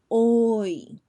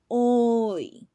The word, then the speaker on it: hoy: Hoy. Hoy, which means today. Remember, the H is a silent letter.